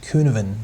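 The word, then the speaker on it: Cynefin: And this one, so it's spelled that way, but I think it's pronounced Kuhneven, the Kuhneven framework.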